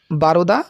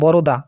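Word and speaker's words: বরোদা: বারোদা কলেজে। সৈয়দ মোস্তফা আলী মহিসুরে বরদা বরদা উচ্চারণ হবে বরদা কলেজে শিক্ষাগতা করেন।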